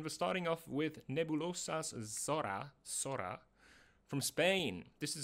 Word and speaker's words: Zorra: Excuse me, it's not Zorra, it's Zorra.